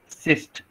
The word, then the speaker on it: XIST: फिर से मैं बोल रहा हूँ, देखो एक्साइज सिस्ट, एसिस्ट बोल सकता हूँ, प्रोनाउंसिएशन लाऊंगा, सीस्ट, सीस्ट, हाँ, ओके, XIST, ओके,